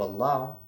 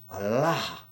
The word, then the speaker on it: Allah: And when it's spelled in that way, you can hear the difference. Allah. So when you hear certain people say it that way, Allah, Allah, with that extra emphasis on the end, that's that.